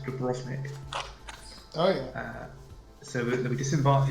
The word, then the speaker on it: Dubrovnik: Dubrovnik, the V is pronounced F.